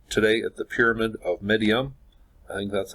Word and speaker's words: Meidum: to look at today at the Pyramid of midium and that's how you pronounce it and pronunciation isn't one of my